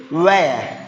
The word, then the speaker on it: wear: How do you pronounce it? Weird. Where? It's weird. Actually, where?